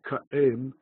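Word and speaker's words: קָאֵים: That was the old pronunciation of ka'im, he is standing, ka'im. And now, just as in English, in rapid speech, we lose the glottal stop, and instead of cooperate, we say cooperate. Similarly, in Aramaic, in rapid speech, in the course of time, they dropped the pronunciation of the aleph. And by the time you get down to a Talmudic Aramaic, the word ka'im, ka'im, two syllables, ka'im, with a bit of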